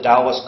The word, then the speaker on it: Dao: as well as a dos cosmological and Theological concept atomically speaking the character Dao probably pronounced something like do in archaic and ancient Chinese consists of